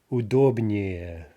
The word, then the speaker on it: удобнее: Удобный, удобнее, right, three syllables, удобнее, no stress shift.